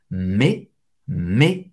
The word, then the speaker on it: mais: AI tem o som do E, um pouco aberto, mais, você não vai pronunciar o S no final.